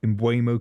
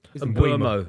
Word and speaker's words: Mbeumo: You've got obviously a brand new forward, Mbeumo, coming in, £70 million. And then, of course, Rashford leaving for Barcelona on loan. Yeah, I mean, look, I always felt the Brian Mbeumo deal would get done.